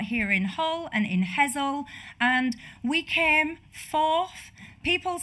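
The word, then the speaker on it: Hessle: She's the candidate, and I was told the pronunciation, Hull West and Hessel, Michelle Dewberry.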